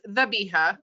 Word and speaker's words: zabiha: So it's pronounced dhabiha, but it's spelled with a Z.